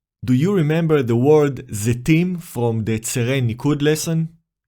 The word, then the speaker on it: Zetim: The first syllable is Ze, created by Tzere Male, and the last syllable is Tim, created by the letter Tav, decorated with Chirik Male. The syllable ends with the letter Mem Sofit.